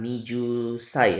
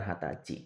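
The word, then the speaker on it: はたち: juga di sini kemudian usia 20 tahun ini spesial dibacanya ha ya Jadi bukan nijusai ya tapi hat lebih sering menggunakan hatci gitu nah usia 20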